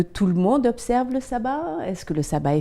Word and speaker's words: Shabbat: Ce jour, le 7e jour de la semaine, est celui qu'on appelle le sabbat, ou si on le prononce comme les Juifs, le Shabbat.